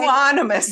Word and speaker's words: euonymus: How do you say euonymus?